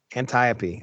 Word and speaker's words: Antiope: Antiope.